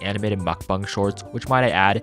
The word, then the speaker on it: mukbang: usual stuff like animated mukbang shorts which might I add yes that's the correct way to pronounce it I am in fact South Korean please stop saying like